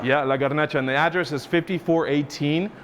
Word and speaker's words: La Garnacha: I want to make sure I get the pronunciation. It's called La Garnacha. La Garnacha. Yeah, La Garnacha.